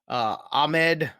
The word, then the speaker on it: Ahmed: I've heard all different kind of pronunciations. It's Salvin Ahmed. Yeah. It is Ahmed.